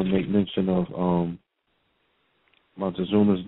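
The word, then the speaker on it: Moctezuma: quick I want to make mention of um Mont Zuma's name the proper pronunciation is Muma motuma all right start resonating that for that ancestor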